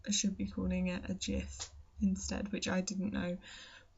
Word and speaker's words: GIF: is pronounced and actually it's pronounced with a soft g so i should be calling it a gif instead which i didn't